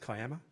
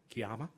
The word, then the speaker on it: Kiama: Quick bit about the Kiama itself, pronounced Kiama, not Kiama.